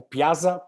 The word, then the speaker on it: Piazza: O jaca é hoje o piá né o Piazza Como se pronuncia de fato na língua original dele é um jogador talentoso